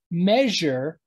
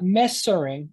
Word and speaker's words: measure: But there's also a ZH sound, a Z, like the English word measure. I'm measuring something. It's not messering. I'm not messering something.